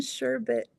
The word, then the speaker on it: sherbet: There's only one R in sherbet.